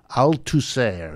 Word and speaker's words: Althusser: Althusser is how they pronounce it, A-L-T-H-U-S-S-E-R. And not only was it